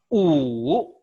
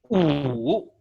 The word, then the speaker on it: 五: 五. 五 No, 五. 五 Going down and going up.